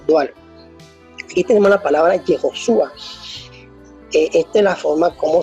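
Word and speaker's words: יהושע: Entonces, la pronunciación correcta o más antigua del nombre de Jesús en hebreo es Yehoshua. Yehoshua, esa es la pronunciación antigua.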